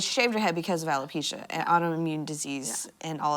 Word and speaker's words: alopecia: i feel yeah about um what what is alopecia right is that how you say it yes